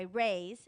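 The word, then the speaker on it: Rui's: special occasion, you will see why Ray's is R-U-I'(S), is spelled R-U-I'(S), Shanghai Bistro, is truly the best Chinese restaurant in the Inland Empire.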